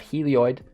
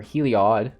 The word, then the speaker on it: Heliod: a single copy of helioid or heliod i should say i've been sailing helioid and people were correcting me i got it boys